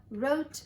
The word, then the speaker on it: wrote: going to ocean park wr says ra wr says this w is silent he doesn't make a sound you only say the r sound remember this is a